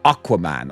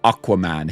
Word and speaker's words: Aquaman: I My brain went, is it Aquaman or Aquaman? I guess American pronunciation is more Aquaman. Here in good old good old BLY, we say Aquaman.